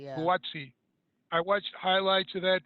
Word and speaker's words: Buatsi: I don't know how to pronounce his last name. Boutsi? Joshua Buatsi. Boatsi, yeah. Buatsi.